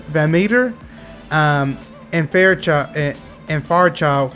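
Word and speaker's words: VanMeter: diamondbacks got that uh i always pronounce his name wrong you guys it's them van mater van meter um and faircha and child from from scentsy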